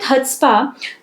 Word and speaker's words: chutzpah: Okay, so the third sentence is he ran with chutzpah to secure, he ran with chutzpah, ठीक है, यहाँ पे C जो है वो साइलेंट है।